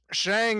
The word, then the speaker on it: Shang: it's without Sean but yeah literally it's called pronounced Shang he um he got some interesting faces got